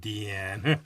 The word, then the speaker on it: Diane: It's Diane, but she pronounces it Deanne.